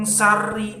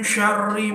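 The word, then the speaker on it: شَرِّ: Nah, shin itu harus dibaca shin, jangan sin. Min syari itu salah, harus sya. Min syari.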